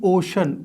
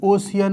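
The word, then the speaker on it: ocean: अभी अभी मैंने आपको बताया द इंडियन ओशन, एक तो इसको प्रोनाउंस करेंगे हम ओशन, ओशियन नहीं है, समंदर।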